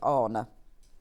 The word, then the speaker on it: Horner: said yes that is how her name is pronounced is honor so there you go I've got a lovely